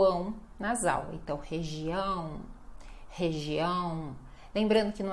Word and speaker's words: região: Então, região, região. Lembrando que não é região, a gente não pode diminuir o final da sílaba. A ênfase vai ser sempre no ão, tá?